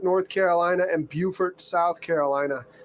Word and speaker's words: Beaufort: But yeah, anything in particular that you want to see between Beaufort, North Carolina, and Buford, South Carolina. They're spelled the same, they look the same, but they're pronounced differently.